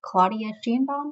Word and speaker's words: Sheinbaum: The current president is Claudia Sheinbaum, I believe is how you pronounce her name.